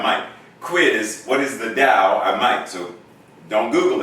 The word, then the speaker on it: Tao: quiz what is the dow i might so don't google it but think about it the dao it's a chinese word in japanese it's go